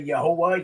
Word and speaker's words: Yahweh: Some say Yahweh, whatever. But that's how you spell it in Hebrew, okay? So Yahweh, some say Yahuwah, Yahuwah. You get all type of mispronunciations or pronunciations, right?